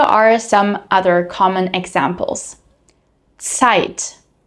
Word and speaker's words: Zeit: In German, however, z is always pronounced like a ts, similar to the beginning of the word tsunami, tsunami. Here are some other common examples. Zeit. Zeit.